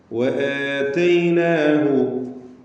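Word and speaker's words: وَآتَيْنَاهُ: വആതൈനാഹു, വആതൈനാഹു, വാവ് രണ്ട് ചുണ്ടുകളിൽ നിന്ന് തന്നെ വരണം, സൂക്ഷിക്കുക. എന്ന് ചുണ്ടുകൾ കൂട്ടി അല്ലെങ്കിൽ കൂർപ്പിച്ച് വെച്ച് വൃത്താകൃതിയിലാകുന്ന അവസ്ഥയിലാണ് വാവ് ഉച്ചരിക്കുമ്പോൾ ഉണ്ടാവുക.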